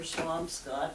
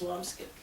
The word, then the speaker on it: Swampscott: And now 3 poems for Swampscott, although apparently it's pronounced Swampskip, according to Mark Logwood.